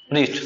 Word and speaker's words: wrist: सोच नहीं पाए तुम, WRIST, इसमें W क्या रहता है, साइलेंट, इसलिए पढ़ते क्या है, रिस्ट, समझा गया ना, साइलेंट